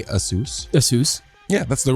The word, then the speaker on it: ASUS: ASUS. Yeah, that's the right pronunciation.